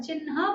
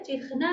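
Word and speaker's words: चिह्न: अच्छा, यहाँ पर चिन्ह बोलना चाहिए, चिन्ह नहीं बोलना चाहिए, उच्चारण की छोटी सी बात है।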